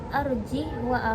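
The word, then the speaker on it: أرجه: alfurqan ayat 69 lafaz arjih wa akohu pada surah ala'raf ayat 111 dan asyuara ayat 36 Ulama Hafiz ini membacanya dengan mematikan huruf ha jadi dibaca arjih WA nah lalu Mad yang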